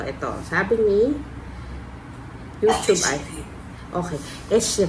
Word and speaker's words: Échiré: course sabihin ko muna kung paano siya ipr pronounce Okay so ito Sabi ni YouTube Okay esher y so esher B there you go yan yan esh bata